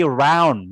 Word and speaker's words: round: isron ya about isrun ya bukan Ron tapi round ya Brown beda dengan Ron Ron sama round beda jadi Bold isrun ya